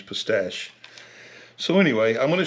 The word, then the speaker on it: pistache: And I say pistache, I've always called them Chinese pistachio, but I think it's actually pronounced Chinese pistache.